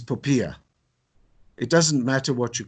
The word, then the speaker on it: POPIA: 16 seminars on the puppy act the new pronunciation according to the information regulator that's panula is poia it doesn't matter what